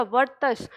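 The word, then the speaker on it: वर्त्स्य: ठीक है, तो इनका जो वर्ग है वो वर्तस्य कहलाएगा, वर्तस्य, इसका उच्चारण ध्यान रखिएगा, वर्तस्य। ये जो र ऊपर लगा है ये त से पहले ही आएगा, वर्तस्य कहलाएगा।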